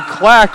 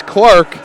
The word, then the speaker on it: Clark: I've been pronouncing Chloe's last name Clack when it is Clark.